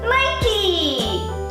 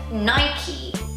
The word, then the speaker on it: Nike: not pronounced as Nike, it's actually pronounced as Nike. So that little check. So the word Nike, it's from Greek and it's the name of the goddess of victory. And yeah, so the correct pronunciation is Nike, not Nike.